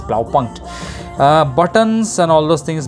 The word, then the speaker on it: Blaupunkt: okay blah blah enjoy you have to know how to pronounce it it's plow punch buttons and all those